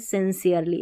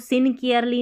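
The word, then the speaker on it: sincerely: ना तो बोलते हैं सिंसियरली इसको सिंकेयरली नहीं पढ़ना है ठीक है सिंसियरली यहां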